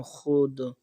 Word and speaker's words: خود: وقت انہیں لکھتے ہیں۔ فارسی الفاظ کی واو معدولیہ جو خ کے بعد آتی ہے، مثلاً خود، خواب، خوش، خوش، خواجہ وغیرہ، تلفظ میں نہ آئے، اس کا شمار نہیں ہوتا۔ تختی میں خود، خواب،